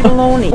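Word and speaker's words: bologna: know where I can find the bolog now you say baloney we don't pronounce the G she took that personally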